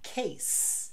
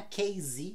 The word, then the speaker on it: case: de s por exemplo Chase Case sabe o estojo não é case é case base de baseline por exemplo